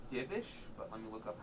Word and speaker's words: Divish: It's Divish, but let me look up how to spell it quickly.